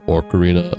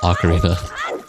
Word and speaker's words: ocarina: Oak Arena. What the hell? You guys have weird ways of pronouncing words. I've never heard anyone say orc orcarina or ocarina or or ocarina. I always just said ocarina.